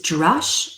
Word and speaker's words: drash: So the sacred word that you're going to use is drash, or D-R-A-S-H. Sometimes, and that's just a very Western American way of pronouncing it. It's slightly different in Hebrew with more of a pronunciation on the H.